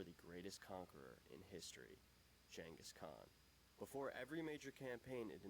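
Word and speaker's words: Genghis Khan: Actually, in original Mongolian, I believe it's Jenis Khan like kind of a instead of like a hard K.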